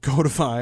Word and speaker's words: codify: guys pointed out that codify of course from the root code not Cod and perhaps that might imply something about the way that the pronunciation should go um and it